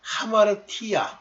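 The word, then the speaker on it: ἁμαρτία: 저 전는 옛날에 아마르티안이라고 많이 읽었는데 하마르티안이에요.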